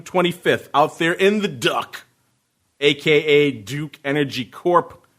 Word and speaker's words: DUK: out there in the Duck, a.k.a. Duke Energy Corp., ticker symbol DUK. Supposed to be pronounced Duke. I just like calling it the Duck because it sounds funnier.